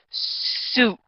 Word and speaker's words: suit: When you say this word, we need to pronunciate it as suit. It needs to make the oo sound in the middle.